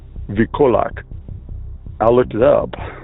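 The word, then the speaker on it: wilkołak: The V sound in Polish is not spelled with a V, it's spelled with a W. So instead of being spelled Wilkulak as in V-E-A-L or something like that, it's W-I-L, Wikulak.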